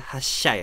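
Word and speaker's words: 発車: Hatsu di sini dibacanya jadi hassu kecil. Kuruma dibacanya jadi sya jadi ya hasyai. Hatsu itu sendiri artinya adalah awalan ya awalan keluar atau berangkat ya teman-teman. Dan di sini ada kuruma. Kuruma itu artinya mobil. Tapi kalau misalkan dia berdiri sama kanji lain biasanya dibacanya sya ya. Jadinya di sini kita bacanya hasya yang artinya adalah keberangkatan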